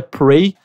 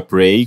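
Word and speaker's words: Praey: nome do jogo para eu acho que ainda se pronuncia Prey que é pr a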